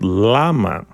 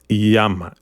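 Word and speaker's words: llama: accent Jose okay Jose the Double L is not Lama is Yama Yama that's the pronunciation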